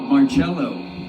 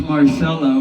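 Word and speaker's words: Marcello: Brother's been watching a lot of Mar watch watching Rob Marello. It's pronounced Marcelo, but brother likes cello cuz brother's purely classically trained and and blues jazz trained too.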